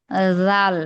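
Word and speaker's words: ذال: জাল না আপু জাল মানে জালের উচ্চারণটা নরম হবে। এই যে জিহ্বার আগা সামনের উপরের দুই দাঁতের আগার সঙ্গে লাগাবো।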